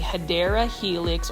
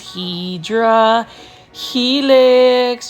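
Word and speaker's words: Hedera helix: for my new viewers I um mispronounce hadera Helix as hedra Helix just because for the longest time I was mispronouncing it as hedra Helix when I first did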